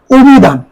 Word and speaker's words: অভিধান: করো অধ্যাপক হসন্ত এরপরে অভিধান রসিককার ইকারান্ত শব্দের কারণে এখানে অকার ওকার উচ্চারণ হবে অভিধান অভিধান ইত্যাদি খেয়াল কর